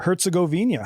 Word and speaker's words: Herzegovina: Herzegovina.